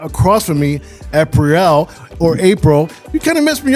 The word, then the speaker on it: Apriel: But Apriel, cuz the way your name is spelled, it sounds like Apriel, right? Yes. But it's but it pronounce it April still.